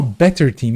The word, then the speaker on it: ß-TEAM: going to see oh the beta is pronounced better oh better team yeah it's the better team well I mean of